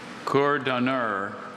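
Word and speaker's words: courdhonneur: Cordonneur. Cordonneur. May I please have any alternate pronunciations? I have just cordonneur.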